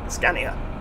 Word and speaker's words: Scania: M5 or 400 from the uh the Scania Scania there you go that's how you say it